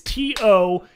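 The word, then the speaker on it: Toews: It's Toewes, okay? Taze. There's no fucking V in his name.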